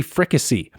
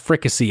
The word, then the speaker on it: fricassee: Judy says she's looking for a recipe for turkey fricassee, and I had to use Google pronunciation here to find out it's pronounced fricassee. I was going to say fricasse, but anyway, Judy says she's looking for a recipe for turkey fricassee.